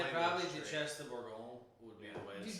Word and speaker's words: Duchesse de Bourgogne: It is the Duchess de Bourgogne.